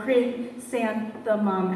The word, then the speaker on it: chrysanthemum: Chrysanthemum, as in christen the baby.